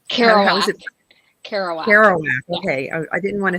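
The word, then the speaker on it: Kerouac: one Jack's house I don't know how to pronounce that author's last name carow kowak kowak okay I didn't want to take a stab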